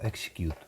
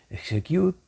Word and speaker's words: XECUTE: Por otro lado, tenemos el comando execute, que ejecuta texto que contiene líneas de comando y por lo tanto también es algo que podemos decidir en tiempo de ejecución. Execute o execute, como lo queréis pronunciar, puede aceptar varios argumentos